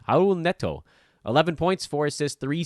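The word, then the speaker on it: Raúl Neto: and his name is actually pronounced like an H hon or silent how old net toe 11 points four assists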